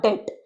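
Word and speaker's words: debt: Them the डेट, बी तो silent है, इसे अवॉइड करेंगे।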